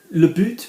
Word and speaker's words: but: write these underneath boots you're gonna hear the T now yes there's always me who's telling you that um that in French you you don't pronounce a word if there's not a vowel after it but like all laws it's there to be broken apart from drinking and